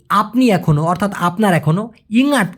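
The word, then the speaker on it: ingat: ইঙাত বানান করতে গেলে অনেকে ইঙাত এইভাবে বলে অথবা ইংআত এভাবে বলে। তো আমি দুটাই দিয়ে দিলাম, কিন্তু সঠিক উচ্চারণটা হবে, আপনি শুনে নেন, ইঙাত।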